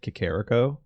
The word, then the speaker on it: Kakariko: Oh, The funny that's- thing was we weren't actually like misspelling Kakariko, but we were putting the emphasis wrong. Kakariko. And even once the internet was a thing, people still mostly pronounced it Kakariko Yeah.